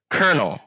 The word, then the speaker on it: colonel: heard this before it's the word kernel kernel before I look up Colonel Sanders I look up like Colonel Sanders chicken or something like that and look how it's spelled I want you to tell me where the R is in that word and I'm not talking